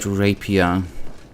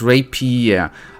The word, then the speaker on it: rapier: look good in there I still don't like the word rapia although I know the weapon type obviously okay we wanted to um talk to see your lady it's pronounced Rapier oh boy then the